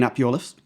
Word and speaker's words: Iorwerth: So the Plaid leader, Rhys Iorwerth, saying it right?